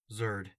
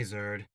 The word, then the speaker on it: Zerd: asked what's your name zerd that your real name no how do you spell it nerd with a a malicious Rumble sounded